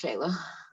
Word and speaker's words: Shayla: something to share and am i pronouncing your name right is it shayla yeah it's shayla great great yeah so